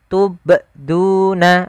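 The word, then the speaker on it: تُبْدُونَ: Tubduna. Ah, ini sama. Itu salah. Yang tepat adalah dia huruf qalqalahnya memantul sambil mengalir. Tubduna. Tubduna. Ya, seperti itu.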